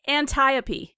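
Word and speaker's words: Antiope: o P yeah yeah it's anti opee I believe is the pronunciation Cu yeah it rhymes with Calliope aunt Ida we're all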